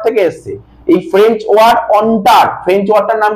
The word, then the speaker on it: entre: এই French word অন্টার, এটাকে বলে অন্টার, ENTRE, এটাকে কি বলা হয়? অন্টার, ঠিক আছে তো, অন্টার মানে বুঝলেন, যেটাকে অন্টার বলা হয়, প্রোনাউন্সিয়েশনটা হবে অন্টার, ঠিক আছে।